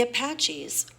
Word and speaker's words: Apache: they call them Apaches by WM acres the Apaches one of the most famous Native American groups